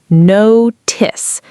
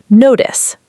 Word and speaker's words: notice: Notice. The ending has a short i sound like the word miss. Notice.